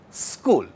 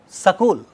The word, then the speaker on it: school: So we can say school, where sa is being spoken, being pronounced without that a. The moment we add that a, that becomes sakul, right? The moment we add that vowel, it becomes sakul.